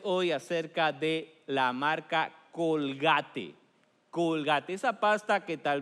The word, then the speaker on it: Colgate: él fue William Colgate de hecho así se pronuncia su apellido en inglés William Colgate fue a la ciudad